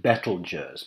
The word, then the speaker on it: Betelgeuse: Beetlejuice some people pronounce it betel Jers because that's a bit more like the original Arabic name whatever you want to